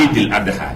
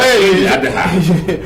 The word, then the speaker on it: Eid al-Adha: Oui, Eid al-Adha. je vais m'y mettre. Hein. Tous ceux qui prononcent mal, il faut leur montrer que désormais c'est Eid al-Adha.